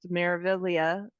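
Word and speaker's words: Meraviglia: out their msse Cruis marilia I think that's how you say it it's kind of tricky it's got a silent G in there like lasag well and I think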